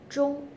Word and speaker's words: 钟: In Chinese, clock, 钟, shows the same pronunciation as the end, 钟.